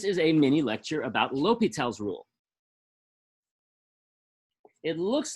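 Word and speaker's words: L'Hôpital: that's not what it is in fact it's pronounced l'hopital l'hopitel was a french mathematician and he wrote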